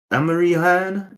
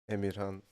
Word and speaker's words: Emirhan: Is Amirihan? Is that how you say it? Emirhan is the Turkish name. Oh, Amirhan.